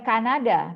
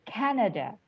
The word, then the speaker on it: Canada: Ya, jawabannya bukan Kanada, tapi Canada. Karena dalam bahasa Inggris pengucapannya adalah Canada. Jadi kalau bahasa Inggris dibelaguin gitu pengucapannya, Canada.